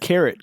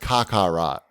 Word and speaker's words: Kakarot: ok Dragon Ball Z carat came out that cat Kakarot mm-hmm it's pronounced Kakarot o duty that's been